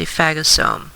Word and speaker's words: phagosome: The structure that's created by the white blood cell or the macrophage eating the bacteria, remember, is known as a phagosome, which just basically is a vacuole that digests from eating.